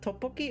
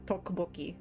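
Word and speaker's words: tteokbokki: a Korean rice cakes I don't know if you pronounce it topoki or toi uh I feel like I've heard it pronounced both ways but yeah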